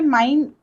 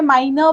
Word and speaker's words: mein: सुनाई दे रहा है, तो ये जहाँ पे माइन, ये इसके साथ आप स्टार्ट कर रहे हो ना, माइन ब्रूडर, तो अब यहाँ पे हमें माइनर नहीं नजर आ रहा है, ये लास्ट वाला ई यहाँ पे नहीं है. सो वो प्रोनाउंसिएशन में भी मत आने दीजिए, क्योंकि वो कैसा लग